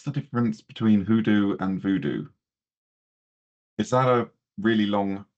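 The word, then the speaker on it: Vodou: So um voodoo is um an incorrect pronunciation of voodoo which is a religion um based in I think originating in Haiti, Dominica, that area.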